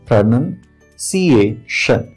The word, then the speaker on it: pronunciation: बहुत बार लोग इसे गलत प्रोनाउंस कर लेते हैं। इसका रियल प्रोनाउंसिएशन होता है प्रोनाउंसिएशन।